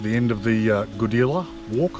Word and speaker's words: Goodela: end of the uh godila walk i think it's pronounced goodila g-o-d-e-l-a um there is actually